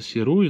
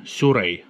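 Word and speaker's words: Sirui: объектив от японской компании, хоть и читается Сируи, но произносится как Сюрей с японского.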